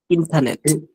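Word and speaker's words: internet: এটা ইন্টারনেট ইন্টা আর উচ্চারণ হবে না আর হবে না ইন্টারনেট ইন্টারনেট ইন্টারনেট ইন্টারনেট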